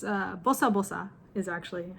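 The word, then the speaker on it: ボサボサ: said i don't exactly know the meaning of busta busa or if it's even a real word but i remember my mom and grandparents saying that in reference to hair being messy so it's uh bosa bosa is actually how you pronounce it b o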